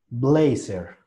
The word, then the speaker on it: blazer: Blazer. Nosotros casi siempre la hemos pronunciado, solamente que hay que cambiar el tono de la R.